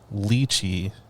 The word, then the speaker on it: lychee: No, it is not lychee, but rather lychee.